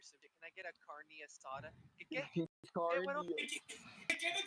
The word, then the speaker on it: carne asada: Carne asada. Carne asada.